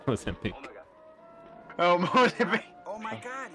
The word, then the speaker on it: Mozambique: No, it's Mozambique.